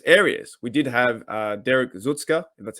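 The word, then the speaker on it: Tuszka: of their weakest areas we did have derek zutzka that's how you pronounce his name uh he was now being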